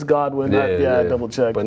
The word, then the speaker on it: Godwin: I spelled it wrong it should be Goodwin it's Godwin double check but not